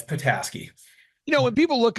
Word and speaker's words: Petasky: sir yeah that's right pataski people usually go like pety and I'm Ukrainian background so people call me um but it's patasi you know when people